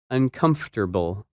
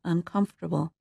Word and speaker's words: uncomfortable: That word is uncomfortable, and its opposite, comfortable. When you say this word, you do not pronounce some of the letters that you see in the written word.